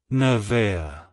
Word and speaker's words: Nevaeh: To pronounce it correctly, emphasize the first syllable, na, and then smoothly transition to the second syllable, vay, with a slight emphasis on the I sound. Finish with a soft, at the end.